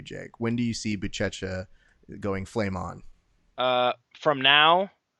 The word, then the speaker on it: Buchecha: No, you say it like that. I heard what you said it the first time in my ear, like it was a Flow Rida song. Buchecha. Ooh. Oh, like a flow rider.